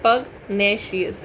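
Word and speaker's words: pugnacious: ठीक है, इसको कैसे बोलते हैं? पगनेशियस, ऐसे ही प्रोनाउंस करते हैं।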